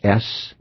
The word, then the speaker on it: Samhain: Its very first name, Samhain, spelled S-A-M-H-A-I-N. Samhain, as it's pronounced. And it's kind of deceiving, isn't it? Because it doesn't look anything like it would be pronounced.